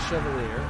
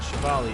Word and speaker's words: Chevalier: Sniper's Mark on the Chevalier, or the Chevalier, is the correct pronunciation.